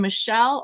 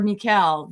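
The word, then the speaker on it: Micheál: And you can name him Michelle or Mikel. Depending on where you're from, his name is pronounced different ways.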